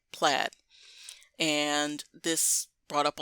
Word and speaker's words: Plaid: But a lot of my viewers were saying that it's pronounced plaid, just like the fabric or the clothing, which I just think brings a bad name to those pieces of wear.